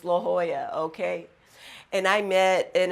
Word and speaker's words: La Jolla: Now, when I moved to California, I called it La Jolla, but I now know it's pronounced La Jolla, okay?